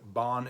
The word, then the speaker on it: Bahn: silent in the word Bon it serves only one purpose and that is to elongate the vowel a if you've ever spent